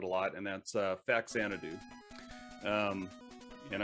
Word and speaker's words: Faxanadu: lot and that's uh faxanadu um and i should say fazzanadu because i think that's the proper way to uh pronounce it but i always called it backsanity um did you yeah